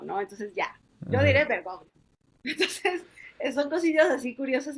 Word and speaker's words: Bergoglio: Bergoglio o Bergoglio, no, yo decía, pues Bergoglio porque se latinoamericanizó, o sea, y después ya dejó de ser Bergoglio, fue Francisco, ¿no? Entonces, ya yo diré Bergoglio.